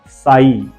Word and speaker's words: sigh: First, साई, SIGH को हमने पढ़ा ही नहीं है, ओनली साई।